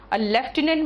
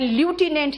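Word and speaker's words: lieutenant: mistake तो बताऊंगी करना लेफ्टिनेंट में एफ नहीं होता इससे सही प्रनंसीएशन है तो करनाल और लेफ्टिनेंट स्पेलिंग याद रखना है तो कॉलोनियल और लुटिनेंट याद रखते हैं ना आईटी इसका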